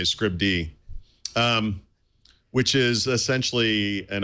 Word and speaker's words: Scribd: is a service called I want to say scribed yeah there no that works okay yeah normally I would say Scribd um which is essentially